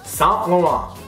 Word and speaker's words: Saint Laurent: you and I both know okay that is s lauron you know what I mean s Eve s lauron don't ever please don't ever uh that irks